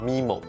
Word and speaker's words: MIMO: Right now, I wan to introduce a very key piece of technology, MIMO, or some colleagues of mine would pronounce it as "Mee-Mo."